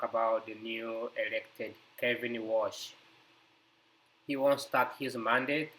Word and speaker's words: Warsh: Uh Kevin Walsh uh pronounced as Walsh O W A R S H was born